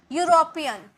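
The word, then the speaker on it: European: यूरोपियन यूरोपियन यू यूरोपियन यूरोपियन वाई का sound आ रहा।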